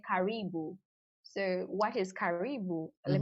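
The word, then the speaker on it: karibu: those fabrics don't even have names let's say caribou so what is caribou let me just spell it k-a-r-i-b-u so caribou in swahili it means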